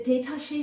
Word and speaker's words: détaché: The detaché stroke, what is it? It sounds like the word detached, and it is.